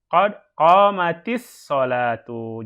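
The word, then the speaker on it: قد قامت الصلاة: Kita sudah katakan tadi, kalau ada huruf sukun kemudian bertemu dengan alif lam, maka huruf sukun tersebut dirubah menjadi kasroh dalam membaca ya. Penulisan ya boleh ditulis aslinya, tetapi membacanya harus dikasrohkan kalau disambung Ya kan? Contoh, qad qamat as-sholatu, qad qamatis sholatu. Jadi taknya jadi kasroh. Qamatis sholatu. Karena di sini ada alif lam dan di sini sukun.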